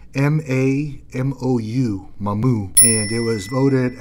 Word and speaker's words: Mamou: It's M-A-M-O-U, Mamou.